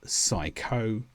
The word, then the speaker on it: psycho: The P disappears completely and we say words such as psycho, psychic, psychology.